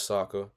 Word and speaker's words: Sokka: My name is Sokka. Rhymes with an Akka.